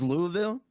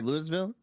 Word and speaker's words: Louisville: spelled right now like kentucky is louisville but people say louisville yeah because people are looking at the letters and like it's not self-explanatory that the s is gonna be silent right like i agree